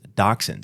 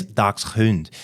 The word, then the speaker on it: dachshund: Now, this is actually really funny because like I said dachshund and she said dash and I was like and she was like that pronounced differently. She's like no you got the answer wrong and I'm like no I didn't. It's dachshund. And I'm like and if you pronounce it German it's docund.